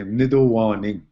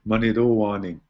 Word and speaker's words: Mnidowaning: Fierro system, we'd say Mnidowaning. So we actually pronounce it differently. Instead of the T, we use a D, Nido. And then others would say Manidowaning.